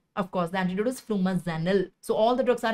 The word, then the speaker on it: flumazenil: is the antidote of course the antidote is flumazenil so all the drugs are FFF FF don't